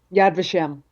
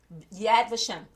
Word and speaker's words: Yad Vashem: bio Yad Vashem, and I hope that I'm pronouncing that the right way. Yad Vashem. Yad Vashem. Okay. So, what exactly does that mean in English, and what is it culturally? So Yad Vashem is a place in Jerusalem, and it is